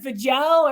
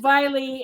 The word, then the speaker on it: Vejle: I mean, Viley is spelled, I think, Vejle, and we were calling it Vajel or Vajeli, all kinds of stuff, until we got there and realized it kind of, we learned it rhymes with like Miley Cyrus.